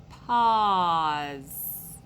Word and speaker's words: pause: pause good job and you hear that middle part ah just like an aw okay so they both make that ah sound so do it again pause good job and there's a silent e at the end so don't be tricked by that silent e okay all right your